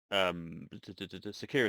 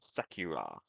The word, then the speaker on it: Sakura: supposed to attack the Sakura Tower, um, or Sakura, I suppose is the proper pronunciation, or at least nearer, maybe.